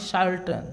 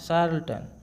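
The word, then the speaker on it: charlatan: ধরনের ব্যক্তিকে বলা হয় শার্ল্টন শার্টন ঠিক আছে শার্ল্টন তো অপশন সি হবে চার্ল উচ্চারণ হবে না এটা শার্ল হবে শার্ল্টন উচ্চারণটা হবে শার্ল্টন চার্ল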